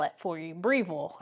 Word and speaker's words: Breville: Breville, I believe that's how you say it.